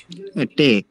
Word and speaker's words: Tee: Tee. Sorry. ফিয়া হাতে কি বলছে? s und sh, মানে sh টা কোথায় উচ্চারণ হবে, s কোথায় উচ্চারণ হবে শুধু, হ্যাঁ শুনেন এবং কি ক্রস করেন।